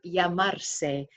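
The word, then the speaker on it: llamar: reminder for you second grammar reminder the verb yamar remember that dou L is pronounced as a y yamar to be called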